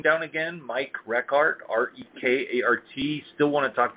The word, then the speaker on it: Rekart: Bruce, by the way, while you're commenting, put my name down again, Mike Rekart, R-E-K-A-R-T.